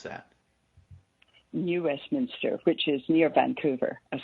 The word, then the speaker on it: New Westminster: of actually where you live how do you pronounce that New Westminster which is near Vancouver and subject it's fun